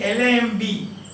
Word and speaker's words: lamb: Then, since the discovery of his tomb, B is silent, like L-A-M-B, lamb.